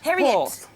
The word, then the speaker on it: Harriet: Is it her? Harriet Harriet. Oh yes, there you go. Silent H. So yes, silent H.